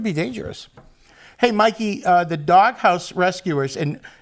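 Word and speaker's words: Dawghouse Rescuers: Hey, Mikey, the Doghouse Rescuers, and it's spelled D-A-W-G, dog, so I can actually pronounce it like that.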